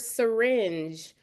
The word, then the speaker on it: syringe: If you think of the word syringe, the Y sounds like because the schwa sound is taking the place of the vowel that's in the unstressed syllable.